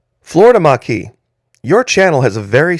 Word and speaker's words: Maquis: to carry that net no it's Florida Maki M A with the accent on the q-u-i-s Maki now it's also pronounced by some folks like the common last name m-c-k-e-e McKee so if that's easier for you to remember once in a while